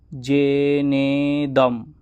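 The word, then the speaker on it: যেনেদম্: তো চলুন, জেনেদম, তো জয়ের সাথে একার আছে, তাহলে এখানে দীর্ঘ বলতে হবে।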